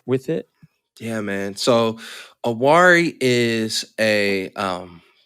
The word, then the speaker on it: Awari: I know, and help me pronounce this. It's Awari. Is that Perfect. Yes, all right? Awari. Cool. Yeah. Awari.